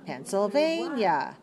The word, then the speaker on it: Pennsylvania: Pennsylvania.